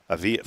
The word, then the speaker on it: Avila: Avila.